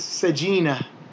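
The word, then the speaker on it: سجينة: If we stop on that word, or we read that word in isolation, we don't pronounce the ta. So we would actually pronounce it as a ha, which would make this sajina.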